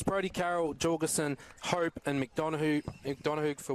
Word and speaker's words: McDonough: Proper pronunciation, McDonough.